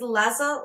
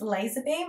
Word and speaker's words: Lazarbeam: to pronounce it wrong I think it's lazza lazza this is Las Beam for okay it's laser beam and I'm G laza